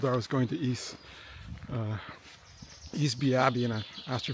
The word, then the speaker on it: Easby: her, I told her I was going to Easby Abbey, and I asked her if I pronounced that correctly.